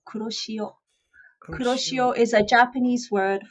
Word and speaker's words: Kuroshio: It's as you say it, Kuro, as in Kuro is Kuro, the yeah. color black, and she is Shio. Shio, Kuroshio.